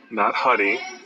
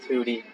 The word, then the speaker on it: Hudy: or Hudy. Nobody knows your first name. People are asking me, like, why is he named Hudy? I'm like, it's his last name. Yeah. Not Huddy. Hudy.